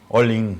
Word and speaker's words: Ollin: Hoy tenemos una información, Tulio, que hace referencia a la organización OIN, que tiene que ver con... OIN creo que se pronuncia. OIN, sí, tienes razón.